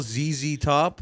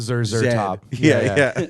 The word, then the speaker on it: ZZ Top: zed z top like I think it's still ZZ Top but it is pronounced in Canada and England Zer top I got you that's weird as hell how